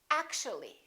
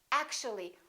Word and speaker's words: actually: and we say basically take a look at this one actual three syllables actual but if we add the ly like here this disappears and we say actually actually we don't say actually there are some more